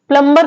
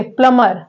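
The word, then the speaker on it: plumber: को नहीं बुलाया जाता वो वर्ड होता है प्लर यहां पर बी साइलेंट होता है तो प्लर बोलते हैं इसे प्लंबर नहीं बोलते आप लोग भी नेक्स्ट टाइम से क्या बोलेंगे प्लमर प्लंबर नहीं बोलेंगे और कोई बोल भी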